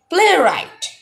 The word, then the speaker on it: playwright: silent should be airy playwright playwright in this word the letter w is not pronounced so it will be